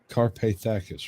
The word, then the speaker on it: Carpathakis: Matthew Carpathakis was the head monk of the... How about that for a moniker, folks? Matthew Carpathakis. Did I miss a syllable? No. Carpathakis, right? Yeah.